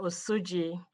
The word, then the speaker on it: Osuji: Up next, we have Osuji, and on deck we have Kate Rosak. Osuji, and please correct my pronunciation if that is incorrect. Thank you, Madam Chair. My name is Osuji.